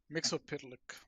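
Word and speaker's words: Mxyzptlk: Uh, I think it's like Mixel Split or something. Okay. Mixel pit.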